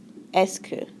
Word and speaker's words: est-ce que: French student students um try not to focus too hard on the spelling the spelling of it is kind of weird and you're going to be tempted to do some weird stuff with the pronunciation um but really all it is is es es es es okay these an these questions